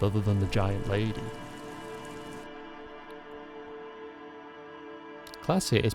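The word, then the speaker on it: Klaasje: Classier is pronounced classier.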